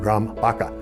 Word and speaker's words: Graham Barker: Graham Barker if you're from Australia you pronounce it Brahm haka you know I teach them about that but Graham Barker and he was one